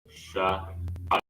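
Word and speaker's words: שֵׂעָר: So write it in the English spelling or the phonetics is spelled A-I-R, right? And you just add an S to make it sha'ir.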